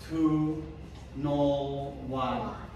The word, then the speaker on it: 2ØY: And I read it down. 2 null y.